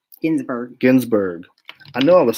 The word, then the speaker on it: Ginsburg: Gainsbourg, what am I saying? Ruth Bader. Ginsburg.